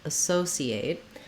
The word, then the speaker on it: associate: or an s sound so if i use the s sound associate what i have is second syllable stress so my so syllable is always going to be the long syllable and it has the clear vowel letter o is going to say oh so so it's just like the word so to sow the verb or so the two-letter word associate we